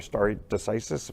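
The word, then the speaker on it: stare decisis: these people they'll they'll honor starry decisis that's the correct way to say it you know for president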